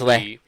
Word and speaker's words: Li: It's spelled L-I, but it's Bruce Lee.